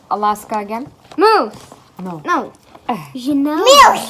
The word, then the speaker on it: Juneau: Alaska, the capital of Alaska is Juneau. It's pronounced Jano. Juneau? It's pronounced Juneau.